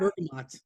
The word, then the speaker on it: bergamot: No, it's What bergamot.